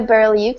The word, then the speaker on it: Berlioux: I think Bonnie said it all, but you can reach out to me on my fan page at Berlioux. It's my name, and I'll spell it out for you because it's French and difficult to spell out.